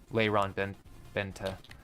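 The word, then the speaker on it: Lyron Benta: n and then b n t a so Lon Ben Benta that's how it's pronounced um Florian he has a dossier on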